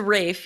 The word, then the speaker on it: Ralph: fines is it not ray fines it's a rafe yeah yeah i would say i've i've heard but it's it's spelled that way it's spelled like ralph but